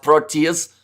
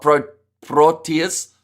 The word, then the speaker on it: Proteas: That's pronounced Proteas, not Proteas, says world champion.